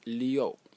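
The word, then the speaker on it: 六: It is pronounced liu, liu, in the 4th tone, and the original character was written something like this.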